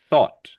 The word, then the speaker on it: thought: So this word has that sound. Thought. Do you hear the ought?